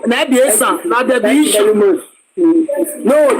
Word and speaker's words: Esan: Listen, it was when the British want to pronounce Esan, they will say Ishan.